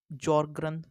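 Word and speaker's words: Sjögren: अब है हमारा जॉर्ग्रन सिंड्रोम, ये क्या है, एस जो इसमें ऐसे साइलेंट है, जॉर्ग्रन कहते हैं।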